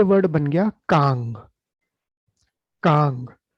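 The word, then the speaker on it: 강: याद रखिएगा, सर्कल में कंफ्यूज मत होइएगा कि ये नीचे लिखा हुआ है तो ये भी साइलेंट होगा, नहीं। साइलेंट वाले खाली बाईं तरफ और ऊपर होते हैं, नीचे लिखा हुआ हमेशा अंग है।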